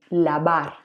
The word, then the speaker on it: lavar: By the way, you probably hear vi lavar, but it's actually a V. Remember, in Spanish, we don't have this sound, and the letter V and B are pronounced the same. B, lavar.